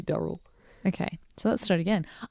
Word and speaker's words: Durrell: yes so I mean a standard English pronunciation of d-u-r-e-double would be Daryl okay so let's start